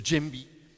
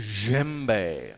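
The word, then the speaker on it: djembe: there it is there and that's a gembe with a j so it's d j e m b e you don't say the jimby it's a jember like that that's what it is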